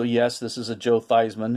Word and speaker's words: Theismann: this is a joe theismann his real name is actually thiesman was changed as a publicity stunt to rhyme with the heisman trophy 1971 toronto organized these